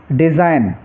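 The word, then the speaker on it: design: तो जी साइलेंट रहेगा जैसे डिजाइन डिजाइन में देखिए बीच में जी है और उसके बाद में एन है तो यहां पर जी साइलेंट रहेगा इसको डिजाइन पढ़ेंगे ओनली ऐसे ही रिजाइन और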